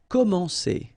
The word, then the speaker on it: commencer: Commencer. All right, so you get this comment, so really N here, it's nasal, you know, en, and then c'est, commencer. Paraître, okay, so if you